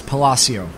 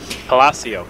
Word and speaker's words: Palacio: Just a quick pronunciation note, they wanted to make a note of that it's Palacio. Palacio, yes.